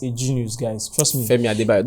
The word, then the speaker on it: Femi Adebayo: Femi Adebayo. Don't murder someone's name. I said it right now.